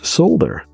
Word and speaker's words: solder: One was solder, or soldering iron, which is solder in the UK. They pronounce the L.